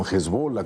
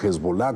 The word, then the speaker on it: Hezbolá: tenido eh Israel con hezbola con o hezbolá como como le quieran pronunciar sí eh eh Son